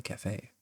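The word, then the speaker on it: café: And yes, I'm talking about the cafe. But that's not quite right, is it? A yes, it's missing its special little guy on the top that stops the word from rhyming with safe.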